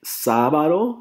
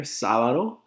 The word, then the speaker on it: sábado: Monday in Spanish is lunes, Tuesday, martes, Wednesday, miércoles, Thursday, jueves, Friday, viernes, Saturday, sábado, accent on the A there, sábado, and Sunday, domingo, domingo.